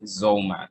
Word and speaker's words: Zollman: She goes by the name Zollman. Am I pronouncing that correctly, or am I wrong?